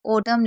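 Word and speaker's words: autumn: अगर एम और एन साथ में होगा तो एन साइलेंट रहेगा। हमने अभी एम का बताया था। अभी हम एन का बता रहे हैं कि एन का साइलेंट है। देखिए जैसे ओडम लिखते हैं तो वहां पर आपने देखा होगा कि ओडम में लास्ट में एम एन होता है।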